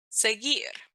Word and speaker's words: seguir: So there's a soft G like gente, and there's a hard G like seguir.